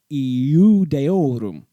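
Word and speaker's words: Iudaeorum: Here, the Latin letter I is being pronounced next to the letter U, which in Latin was pronounced similar to our English U. So, Iudeorum. Say it fast enough, and it becomes Judeorum.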